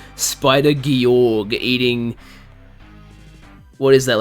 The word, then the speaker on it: Georg: Oh, it's pronounced Georg? My bad.